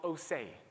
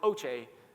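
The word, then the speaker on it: Océ: My favorite story here comes from an organization called OAY which for years I was calling Oce until I realized when I spoke in the Netherlands that I was horribly mispronouncing this company.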